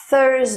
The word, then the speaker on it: Thursday: história nem significa quinta-feira para pronunciar o telhar coloque a ponta da língua entre os dentes superiores e inferiores da frente à e sob o ar enquanto a língua retrai apesar da posição da língua dos dentes e dos lábios ser a mesma o th ainda pode ser pronunciado de duas maneiras diferentes em inglês o que muda é apenas a vibração na garganta o th em surgir